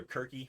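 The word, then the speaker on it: Circe: think i went with i called her quirky which is i think the greek pronunciation of her name and um i wanted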